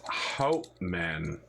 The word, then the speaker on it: Hauptmann: It's pronounced Hauptmann. Hauptmann.